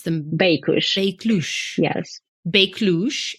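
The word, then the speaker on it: Beykush: That same winery, how did you pronounce them? Baikush.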